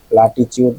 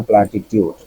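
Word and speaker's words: platitude: দেখতে চাইছিলাম প্লেনটিভের পরে প্লাটিচউড না প্লাটিটিউড এটা দেখতে চাইছিলাম কারণ মাঝে মাঝে টিউতে টু উচ্চারণ হয় প্লাটিটিউডই হবে গত নৈগতিক কথা মদসগুলি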